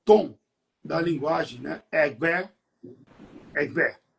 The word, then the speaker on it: Egbé: The tone on the word is re, mi, Egbe.